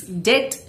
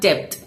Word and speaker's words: debt: Here the B is silent. So it's debt not debt.